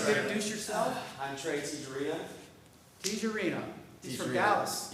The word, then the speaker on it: Tijerina: I'm Trey Tijerina. Tijerina. He's from Tijerina. Dallas. Yes, I am from Dallas. You can pronounce it Tejarina or Tijerina. Either way, some people say it.